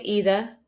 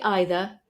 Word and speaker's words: either: either sometimes I say either sometimes I say either and both are totally correct the same for neither